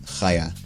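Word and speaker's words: חיה: It's also a female's name, usually pronounced Chaya.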